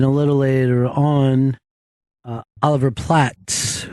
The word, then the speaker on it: Platt: But we just had some big stars here, and a little later on, Oliver Platt, who Chris said Oliver Plate is coming in. And it's not spelled like plate.